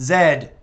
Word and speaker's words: Z: villain known only as Z pronounced Zed proper like with an English accent hope you enjoy it